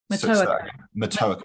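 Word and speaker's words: Matoaka: we were just talking about this with Pocahontas, Mataoka, is that how I pronounce it? Mataoka, thank you.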